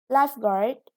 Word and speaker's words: lifeguard: the adverb is subtly next lifeguard is a now are the stresses on the first syllable it means a person